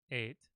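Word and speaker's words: את: would say Johnny hit ate the ball so that's how you pronounce that ate it just it's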